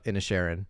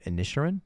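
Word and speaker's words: Inisherin: watched the Banshees of in a Sharon yes did I say it right yes that was a joke in the Oscars like people keep saying initial but it's in a Sharon yeah in a Sharon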